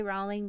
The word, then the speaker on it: Rowling: how you say it I always used to say Rowling but I saw somewhere it was rolling so forgive me if I'm wrong JK rolling might not